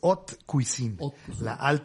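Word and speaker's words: haute cuisine: humanidad Sí es correcto el término pronunciado correctamente es ot cuisin cocina eh y y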